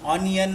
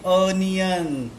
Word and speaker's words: onion: ओ we pronounce as onion. ONION. ऑनियन नाही येते, अनियन.